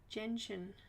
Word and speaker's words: gentian: Gentian.